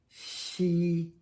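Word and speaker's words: 夕: She, evening, night, or dusk. She, actually it's a little bit more like that.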